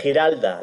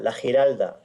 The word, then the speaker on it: Giralda: It is called, can you pronounce it, Mr. Alberto? What is word? The Giralda, la Giralda.